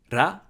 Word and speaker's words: ら: So either close to a rolled R, like they do in Spanish or Italian, a trilled R, or an L sound, but don't pronounce it the English way.